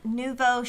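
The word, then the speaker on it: Nuevo: And um so it's called Neuvo Shadow Collection. Is that how I'm saying it right or not? Yeah, Jordan says that's right.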